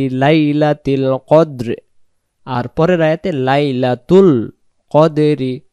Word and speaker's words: قدر: যদি পড়ি তাহলে এখানে এই কব অক্ষরটার পরিবর্তে এখানে কাফ অক্ষর উচ্চারণ হবে এই জায়গায় যদি আমরা